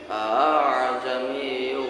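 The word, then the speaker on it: أَأَعْجَمِيٌّ: Ketika membacanya itu antara hamzah dan alif apabila ada dua hamzah qata bertemu dan berurutan dalam satu kalimat, dibacanya menyederhanakan, dibaca ringan. Contoh a'jamiyyu wa 'arabi.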